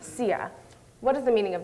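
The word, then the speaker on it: txiag: the third M phrase spelled TX i a g but pronounced CIA what is the meaning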